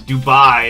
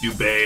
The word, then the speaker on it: Dubai: And one of them was Dubai, and it's like it's actually pronounced Dubay or whatever it is.